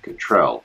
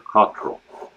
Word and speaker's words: Cottrell: Johnson Tomu, the former Archbishop of York, the current Archbishop of York, Stephen Cottrell, or Cottrell, if you're American or English, you pronounce it differently, have public...